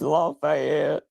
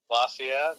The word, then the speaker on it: Lafayette: you say it anyone I ain't local it's lafette Lafayette okay um yeah so the oldest that we